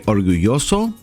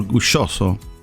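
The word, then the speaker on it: orgulloso: proud el estador yoso keep in mind that the double a is pronounced slightly different from spanish country to spanish-speaking country some places that say orguyoso or gu joso or gushoso she was proud ella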